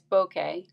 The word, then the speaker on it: bokeh: how to say the word um and it's bokeh and it's the blurry effect created in the